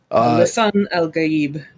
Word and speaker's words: Lisan al-Gaib: Lisan al-Gaib. Yes, thank you. Proper pronunciation is important.